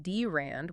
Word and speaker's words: drand: That is the precise trust problem that the DRN network pronounced DRAND was created to solve.